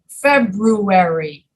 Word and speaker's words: February: Another example, in the month February, many Americans cannot pronounce the first R, February, because the first R and the second R are so close together, they just skip the first R and they say February. That's not right, but that's what they do.